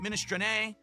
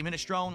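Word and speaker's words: minestrone: If if you're Italian, you pronounce it ministr, but since I'm in a United States, I say minestone like you're supposed to, like provolone.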